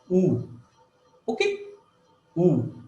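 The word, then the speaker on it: ü: गोल हो जाता है, U, okay, U. But हम जब pronounce U करते हैं, U में क्या है? There is a connection between E and U.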